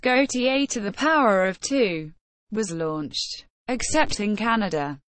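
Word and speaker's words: Gaultier²: In 2005, the unisex fragrance for humanity, Gaultier Squared, pronounced Gaultier to the power of 2, was launched, except in Canada, where it was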